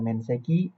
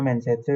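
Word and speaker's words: 面接: Yap, kanji itu dibaca mensetsu ya, Teman-teman yang artinya wawancara. Yang nomor satu itu salah ya teman-teman, Menseki. Yang ketiga itu Kaisetsu juga salah.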